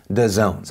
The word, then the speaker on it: Dazon: informed me that it's actually pronounced DAZONES. I would like to, one, acknowledge my mistake, but also, two, say expecting people to know that that's DAZONE is fucking stupid. Okay, yeah, the first part is spelled DA, you know, the letters are there, and the second part is ZONE because, fuck you, apparently we're gonna add an O and an E.